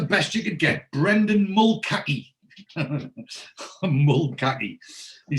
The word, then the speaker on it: Mulcahy: continuity error and and he actually pronounces the name correctly he says it's brendan mulkai now so before he said